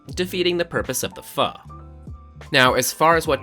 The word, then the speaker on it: pho: Pho, pronounced pho.